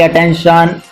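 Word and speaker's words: attention: देखिए जो TI है, ये TION जब बनता है तो श का साउंड लाता है, श, TIO।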